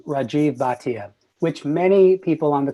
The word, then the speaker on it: Rajiv Bhatia: baton he is gonna I'm gonna interrupt and pronounce my name Rajeev Bhatia which many people on the call probably will